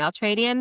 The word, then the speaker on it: Ultradian: Say it for me, Ultradian method.